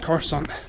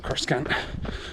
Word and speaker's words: Coruscant: attacking the Jedi Temple on Coruscant, or Coruscant, depending how you pronounce it.